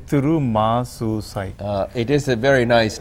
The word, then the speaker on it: Thirumuzhusai: much I couldn't get your last name so pronounce it for me it's what didn't wanna say to room a suicide it is a very nice name what kind